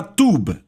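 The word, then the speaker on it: טוב: A palavra hebraica para bondade é a palavra tub. Falamos como se fosse T-U-B, mas se escreve T-U-W-B.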